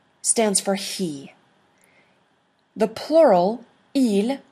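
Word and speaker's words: ils: for he the plural e you don't pronounce the S is they that is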